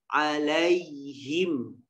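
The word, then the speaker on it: عليهم: lembut aja yg idea bacanya Ayi alaihim Alaihi alaihim tidak boleh bacanya alaihim alaihim berat lihat lembut mengalir alaihim ya seperti itu kemudian Cari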